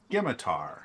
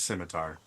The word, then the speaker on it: scimitar: Skimitar. Skimitar. Uh please don't think that that's actually how it's pronounced. It is scimitar.